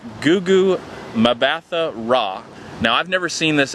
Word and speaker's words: Gugu Mbatha-Raw: different name the actress that plays Bell is pronounced Gugu mbatha-raw now I've never seen this actress before but